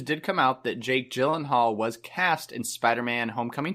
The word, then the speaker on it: Gyllenhaal: he was talking about how no one pronounces his name correctly ha ha ha where did that be the worst to like become super famous and then just nobody pronounces your name correctly at all he says the only time was pronounced correctly is when he goes to Sweden and IKEA yes so anyway mr. Yellen Haller is supposedly maybe going